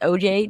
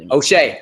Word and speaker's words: O'Shea: It is O.J. Jackson Jr. O'Shea.